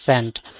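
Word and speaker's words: scent: এস কিন্তু সাইলেন্ট এটার সেন্ট এস সিই এনটি এখানে আমরা সি সাইলেন্ট আমরা এস সাইলেন্ট আমরা সিই এনটি সেন্ট সেন্ট মানে মানে কি?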